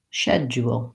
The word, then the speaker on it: schedule: and a yeah yeah shed jewel shed jewel versus dead Joel schedule I wouldn't recommend using the British pronunciation if you're working on an American accent or if you're speaking with North Americans because it'll sound quite different than the rest of what you're saying so going for schedule or schedule can be helpful